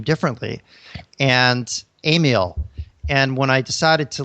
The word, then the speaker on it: Amiel: Okay, it's Amiel. It's Amiel. 3 syllables.